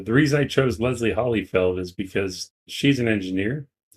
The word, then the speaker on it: Hollyfeld: But yes, Leslie Holyfield. I knew I was going to say it wrong. Leslie Hollyfeld is an engineer.